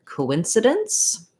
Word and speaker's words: coincidence: to your word so coincidence um is has the stress on the in so it can be helpful to work on just incidents by itself first incidence coincidence so stressing on the in uh that means that this is a reduced file coinci or it's probably going to be in the dictionary as an if but you might think of it as an sound like a schwa and then almost no vowel here in the instant syllable